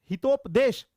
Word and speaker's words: हितोपदेश: कृष्ट किसने लिखा तो चूंकि देखिए हितोप हितोपदेश हितोपदेश अच्छा आदिती राज हितोपदेश हां ठीक है हितोपदेश ठीक है ये प्रोनाउंस ध्यान दीजिएगा साथियों अगर आपको कोई पूछ